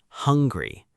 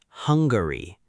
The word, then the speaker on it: hungry: Listen to this word, hungry. Hun-gry. 2 syllables, not Hungary, just hungry.